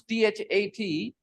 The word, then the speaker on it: that: you have this problem when you pronounce t h a t you start the sound with duh it should not start with du it should start with the that not D I said that sir